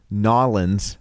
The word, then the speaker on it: New Orleans: a new orleans girl excuse me nawlins there you go there you go because i don't sound like an idiot when i say it that way i don't